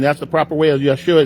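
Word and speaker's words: ישוע: Jesus, Yeshua, and that's the proper way of Yeshua. It's spelled with a Y, not with a J.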